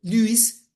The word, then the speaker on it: Lewis: Y ahora voy con Gilbert Newton Lewis, ¿sí? Acuérdense que, no sé por qué, pero en inglés esta EW se pronuncia U, ¿sí?